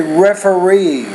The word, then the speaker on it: referee: Any word that ends in EE, Ola, you want to put the stress on the very last syllable, like committee, referee, absentee, interviewee. Again, put more stress on the last syllable of words that end in EE.